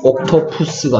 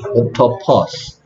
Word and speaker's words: octopus: 옥토푸스가 아니고 옥토퍼스.